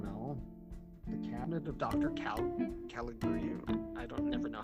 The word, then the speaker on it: Caligari: Caligari.